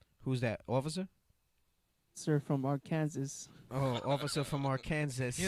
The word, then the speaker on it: Arkansas: Even though it's spelled Arkansas. Arkansas.